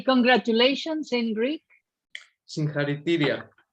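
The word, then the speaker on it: Συγχαρητήρια: Singharitiria.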